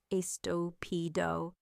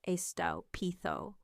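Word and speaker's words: estúpido: He said estupido, like estopido, instead of the correct estopitho.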